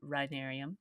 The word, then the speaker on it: rhinarium: was it is the rhinarium how do you spell that r h i n a r i u m rhinarium I have never heard that word in